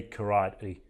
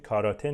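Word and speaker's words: karate: رو هم دقت کنید کاراته نیست ما توی فارسی معمولا اونجوری که نوشته شده میخونیمش کاراته میخونیم اما تلفظش کراری کراری اون تی آخر توی انگلیسی امریکن معمولاً وقتی که تی بین دو تا حرف صدادار قرار میگیره اینجا ببینید بین ا و ای هست شبیه د تلفظ میشه میشه دو کراتی یا دو کراتی اونم میشه ولی امریکنا بیشتر میگن کراتی خب یه سریا هم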